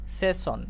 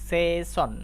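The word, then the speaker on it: session: তাহলে আমাদেরকে এবার এস এস কে উচ্চারণ করতে হবে তালবস এর মত।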